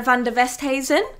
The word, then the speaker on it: Van Der Westhuysen: on today um we've got the lovely van der westheisen uh if you introduce us tell us what